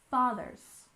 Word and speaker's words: fathers: with the founding fathers we stress the first syllable in fathers and don't forget to put your tongue between your teeth to make the th sound fathers father s altogether founding